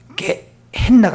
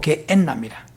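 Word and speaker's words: γέεννα: 게헨나가 아니고 게엔나입니다.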